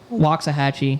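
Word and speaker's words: Waxahachie: Um, it sounds like chhattahooi. Yeah, it sounds exactly like the same thing. Yeah. Wa chata. Yeah, it just ends with a chi.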